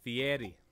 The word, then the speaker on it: Fieri: It's pronounced Fieri.